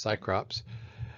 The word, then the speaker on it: Cecrops: The mythical founder and king of Athens, Cecrops, or sometimes his name is pronounced Cycrops, has instituted marriage between one man and one woman.